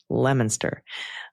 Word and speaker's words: Leominster: Leominster. I get quite a giggle when people try to pronounce towns like Haverhill, Leominster, Worcester.